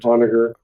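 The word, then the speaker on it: Onager: So Kris did point out that it is somewhere else, but it's the Onagar, or it's how would you pronounce it? That sounds good. Onagar.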